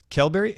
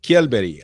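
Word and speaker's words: Kjellberg: it again well so the way I would say it I'm not an expert at Swedish yet but uh kelberry I think would be the pronunciation I'm sure many Swedish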